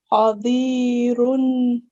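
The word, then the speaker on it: قادر: I'm not sure why, but just remember you don't need to prolong, okay? It shouldn't be longer than 1 second. Okay? Qadirun. Try. Qadirun.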